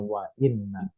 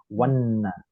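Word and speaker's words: وإنّ: oke bunyinya wa zama Nun yang tasdid itu tidak bisa disambung harus mampir dulu ke hamzahnya Wa Inna bukan wanna i itu namanya Hamzah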